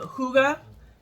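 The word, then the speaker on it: hygge: one a lot um Huga not how it's spelled but how it sounds I think that's how you're supposed to say it cashmere Cedar sugar cookie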